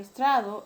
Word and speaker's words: estrado: La palabra estrado, la sílaba tónica es tra, tiene acento pero no tilde.